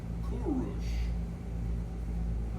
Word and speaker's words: Kurush: which is Cyrus but in his time he was called Kurush.